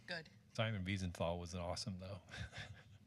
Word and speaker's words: Wiesenthal: Is there a comment and maybe a correct pronunciation, Dr. Lyman? I have a question. Wiesenthal.